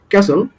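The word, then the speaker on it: castle: ক্যাসল, এখানেও টি সাউন্ডটা silent.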